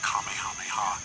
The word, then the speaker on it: Kamehameha: kamehameha and others have said kamehameha apparently that is the more correct way to say it I'm sure I'm gonna